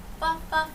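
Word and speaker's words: 反: 판, 오히려라는 단어인데 이 F 발음이 한국어에 없다 보니까 약간 어려울 수 있는데 토끼 모양으로 내주시면 됩니다. 판 네, 그래서 你吃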